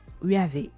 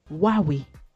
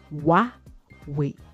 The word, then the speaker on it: Huawei: Et cette marque-là ne se prononce pas Huawei, parce que j'entends beaucoup de personnes dire Huawei ou Huawei. Non, il faut plutôt prononcer Huawei, tout simplement. Huawei.